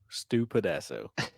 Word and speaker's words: Stu Pedasso: Spell it. Yeah, you did. That's how I knew it. Dude. STUP. PEDASSO. Stu Pedasso.